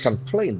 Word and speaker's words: complaint: Complaint. There are two serpents naturally as we expected. The accent falls on the second syllable.